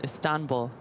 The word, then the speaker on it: Istanbul: She also reminded me that it's Istanbul, not Istanbul. Say it again. You accent the second syllable.